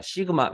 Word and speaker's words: 시그마: 시그마, 요거 시그마라고 읽을게요.